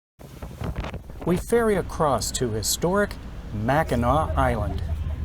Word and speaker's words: Mackinac: city after lunch we ferry across to historic mackinac island it's a cool but busy weekend for